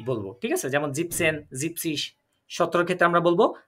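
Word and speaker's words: siebzig: কি বলবো তাহলে ইয়া আবার এখানে আমরা খেয়াল করেন জিবেনসিস কিন্তু বলি নাই আমরা তাই না এখানে আমরা কিন্তু জিনসিস বলি নাই আমরা বলবো কি জিপসিস কারণ যখন এই জিবেন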